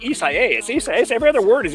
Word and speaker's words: Isaias: watching Wink, the weather authority, everybody is like Isaias. Every other word is Isaias. Okay, so now I've got anyway, but just Isaias.